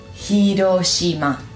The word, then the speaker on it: Hiroshima: Ha, probablemente en la escuela vos te enseñaron la bomba de Hiroshima. No, Hiroshima. Hi. Hi.